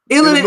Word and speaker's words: Illinois: because I love you I'mma ask you to never pronounce the s in Illinois again that's it go ahead